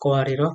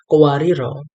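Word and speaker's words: قواريرا: Perlu dicatat, ada tiga cara untuk membaca "qawarira." Yang pertama ada di akhir ayat 15. Jika Anda berhenti (waqf), huruf 'ra' dibaca panjang.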